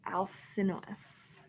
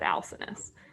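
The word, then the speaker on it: Alcinous: right now hallie yeah lord alcinos is how she just pronounced it i've always said alcinis um lord alcinis i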